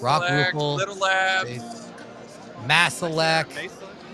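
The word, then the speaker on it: Maselec: Mercury, Mesa Rock Select, Rupel, Little Labs, Masalek. Masalek, that's how you say it.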